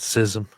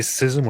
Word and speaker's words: schism: He said schism. David, do you say schism or schism? I've said both, depending on whoever pronounced it most recently in my brain, but I prefer schism.